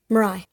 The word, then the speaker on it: Mirai: Mirai, yeah, because if you say senpai or hentai, those both end with AI. It's pronounced I.